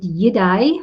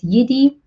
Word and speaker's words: Yidai: pronounce our business name you said yidai which is so similar to jedi we actually refer to it as yiddi but i much prefer the way you pronounce it i might just